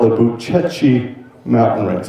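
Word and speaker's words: Bucegi: ancient and in its form it's called the buchechi mountain range it's spelled b-u-c-e-g-i Uchi if you look at pictures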